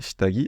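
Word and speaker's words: 下着: À noter que, ici, dans uwagi et shitagi, en fait, on fait une liaison. C'est pour ça qu'il se prononce gi.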